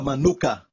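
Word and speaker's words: מנוחה: Usa o artigo definido, e a palavra descanso aqui é no hebraico a palavra manuka. Tem até um mel com este nome, manuka. Certo? Mesma pronúncia, manuka.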